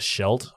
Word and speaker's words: Scheldt: was taking part in the Battle of the Scheldt that's how you say it I'm not sure